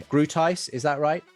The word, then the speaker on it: Groothuis: en los libros "Christian Apologetics" de Douglas Groothuis Gruthus Grutuis Gratuis Douglas, ahora vas a tener que ayudarme a pronunciar Grutis, ¿es eso correcto? Groothuis Groothuis Dr.